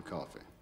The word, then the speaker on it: Coffey: Your name is Coffey. Yes, sir, boss. Like a drink, only not spelled the same.